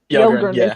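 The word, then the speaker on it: Yelgrun: Yelgren.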